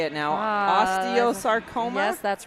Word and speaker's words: osteosarcoma: 8-year-old Jace Lilly, who is battling, tell me how you say it now, osteosarcoma?